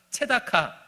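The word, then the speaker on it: צדקה: 체다카.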